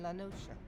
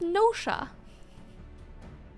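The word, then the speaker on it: Noscea: used to be a ham South in Western lanosa wait it's called was called wait sorry sorry guys it's pronounced NOA it's pronounced like NOA wait why did no one tell me I've been seeing no SK the entire time for the last three months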